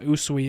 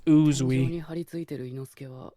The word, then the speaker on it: Uzui: Okay, I was slightly mispronouncing it. It's not Usui, it's Uzui.